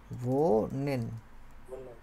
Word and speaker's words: wohnen: ভোনেন, ঠিক আছে, ওই যে ভি এর মতো উচ্চারণ হয় বলছিলাম।